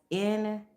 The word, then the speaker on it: Nürburgring: That's Nurburgring.